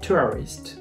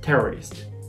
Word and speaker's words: tourists: so in that video my pronunciation of tourists sounded like terrorists right i didn't even